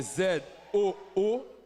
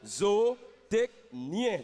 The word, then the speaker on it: zootechnicien: C'est Zootechnicien. Donc, le problème, c'est qu'arrivé à NI, tu es tombé justement à EN. On n'était pas encore à sien. C'est zootechnien, tu as prononcé.